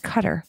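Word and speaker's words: Qatar: think he said cutter I think it's pronounced cutter q a t a r I think it's guitar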